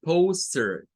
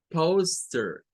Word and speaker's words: poster: No es POS, no es la POS, sino que es PO, PO, es la primera.